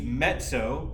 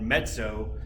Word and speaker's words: mezzo: to it which means mezzo and that double z by the way in italian is pronounced s like a ts sound mezzo forte or mezzo piano and that means